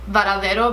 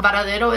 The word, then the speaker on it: Varadero: I feel like the beach in Cuba, Varadero Beach specifically, is like my happy place.